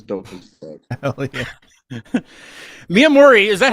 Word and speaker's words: Miamorii: Miamorii, is that how you say it? Is it Miamorii?